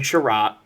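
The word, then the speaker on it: Chiarot: a r o t it's like Chariot but spelled wrong ah he's all right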